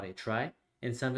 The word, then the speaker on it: trie: to implement a try it's spelled t-r-i-e but it's pronounced try we want to implement